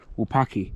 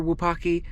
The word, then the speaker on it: Wupatki: And we're just going to keep making our way to Wupatki up there. I think this is how they pronounce it. The T is silent, pretty much.